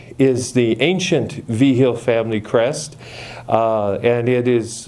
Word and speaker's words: Vigil: from a place which in the Asturiano dialect of Spanish would be spelled Vixil and pronounced Vigil.